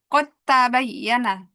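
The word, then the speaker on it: قد تبين: Ah, aslinya bacanya qod tabayyana. Qod tabayyana aslinya gitu ya. Nah, tapi di sini kita bacanya enggak qad, enggak di ee qalqalahkan karena huruf dalnya masuk ke dalam ta. Udah terjadi idgham. Jadi dalnya ee hilang kita bacanya qotta qotta bayana.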